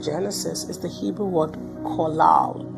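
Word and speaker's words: qalal: is the Hebrew word collal. It's spelled as Q A L A L, but it's pronounced as kal.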